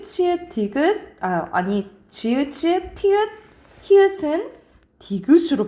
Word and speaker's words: 히읗: 디귿 지읒, 치읒, 티읒, 히읗은 디귿으로 발음나요. 디귿으로 발음나는 게 가장 많아요. 그래서 각각 솥, 옷, 입, 젖, 꽃, 히읗이에요. 여러분 히읗이야. 희행으로 읽는 사람 많은데 히읗이에요. 히읗.